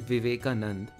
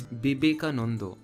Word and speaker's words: Vivekananda: becomes potho and therefore this isn't vivekananda it is no not even that it's bibeka and therefore because the